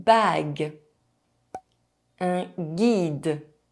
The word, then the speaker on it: guide: Une question A question Quatre Four The letter U is not pronounced when it’s between the letter G and a soft vowel: E, I, or Y. Une bague A ring Un guide A guide 9 –